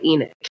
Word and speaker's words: Enoch: we were supposed to name this little boy Enoch and or as some people say Enoch from the Bible Eno but we we're gonna call him Eno um that's how we pronounce it out here in Utah at least so yeah so Eno